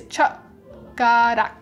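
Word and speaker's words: 젓가락: So it's called, it's a, how you say it's chuk-garak.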